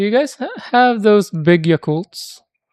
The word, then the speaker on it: Yakult: And do you guys have those big Yakultts like in Korea? Not Yakult brand but similar to Yakult. Oh yeah, but you pronounce it Yakult. I heard somebody say yakult and it sounded like fighting words for me.